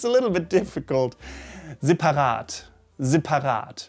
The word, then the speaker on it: separat: Many Germans call this word, or say, separat, separat, separat, separat, with an E, right? Separat, separat. But it should be separat, separat.